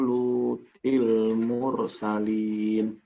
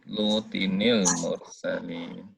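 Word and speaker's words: لوطٍ المرسلين: Kadzabat qaumu Lutil mursalin. Lutinil. Bacanya tuh ya. Itu ada nun kecil gitu. Lutinil mursalin.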